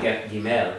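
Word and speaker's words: גִּימֶל: As in Gimel, it's not Gimel, it's Gimel.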